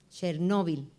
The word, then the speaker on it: Chernóbil: los hijos de chernóbil chernóbil lleva acento en la hoja llana lo que pasa es que mucha gente dice chernóbil y está mal adultos y niños a